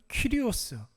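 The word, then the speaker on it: κύριος: 천지의 주제이시오라고 그랬는데, 여러분, 여기서 나오는 주제라는 말은 헬라어 발음으로는 퀴리오스, 이렇게 발음합니다.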